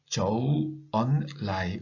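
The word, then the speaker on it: 周恩來: 중국의 정치인 가운데에 그 주운내를 읽을 때에 저우언라이, 은은 언으로 한자로 읽어요. 그런데 한 음절로 읽는데 주는 저우라고 읽어요. 이음절로 읽어요. 그리고 레도 라이로 읽습니다.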